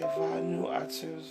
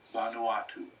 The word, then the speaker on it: Vanuatu: Let's pronounce Vanuatu. It was a French republic, actually. So let's listen. I say Vanuatu, so. Vanuatu.